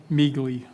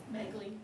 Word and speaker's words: Megley: Deose, next speaker is Migley. Miss Migley. Did I pronounce that right? Megley.